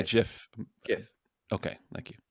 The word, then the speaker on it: GIF: GIF. Okay, thank you. It's a hard G.